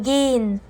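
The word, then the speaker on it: gehen: نطقتها تي اشتط اشتط حرف الها لا ينطق لو بعد حرف متحرك او بين حرفين متحركين زي ايه؟ زي زين زي زين زي زين او جين من الاخطاء الشائعه ان الناس بتنطقها زيهن وجيهن لا هنا الهاء لا تنطق زين وجين Die Küchen öffnen.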